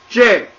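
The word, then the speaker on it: 这: This character is pronounced J. This is a falling tone as denoted by this downward accent mark.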